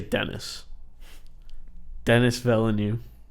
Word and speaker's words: Denis Villeneuve: It's being directed by, I'm going to say Denis Villeneuve.